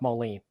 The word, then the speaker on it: Moline: with when that the interior on that one I think was Carl Moline, and I did look that up, and it is pronounced Moline. So it's like Matthew Modine, but Carl Moline.